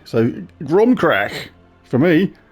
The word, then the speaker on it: Crom Cruach: It's not Ake, because it's not got an E on the end, so I'm just going to pronounce the CH as a K. So, CROM CRUACH, for me, it's like,